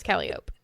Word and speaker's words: Calliope: Is that pronounced Calliope? Yes. Mm-hmm. Okay. Yeah, it is Calliope.